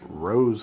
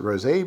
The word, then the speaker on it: rosé: I have seen some folks doubling down on calling this rose flavor, like the flower, which no, this does not contain rose water as an ingredient. The package clearly says rosé, you see with the accent mark over the E. And so I'm going to pronounce it rosé because that is how it is written, and because this looks